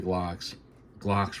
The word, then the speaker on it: Glocks: And when it comes to Glocks rhyme with stock, and I keep my Glocks stock.